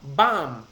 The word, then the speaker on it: bomb: Confuse not com with tomb ये जो बाम होता है ना, BAAM, बाम, तो बेसिकली BOMB का जो प्रोनाउंसिएशन है इज बाम. कंफ्यूज नॉट काम विथ टूम और बाम.